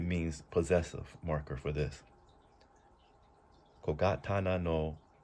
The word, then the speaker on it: 小刀: Now, the way we pronounce all of this is kogatana.